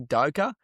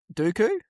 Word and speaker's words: Doku: Jeremy Doka. Proper Doku.